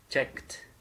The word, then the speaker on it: checked: CT đúng không ạ nhưng mà chúng ta không được đọc như thế mà chúng ta đọc là check K và sau đó thêm từ t đằng sau chữ t đằng sau check được chưa ạ checked Ok alr và từ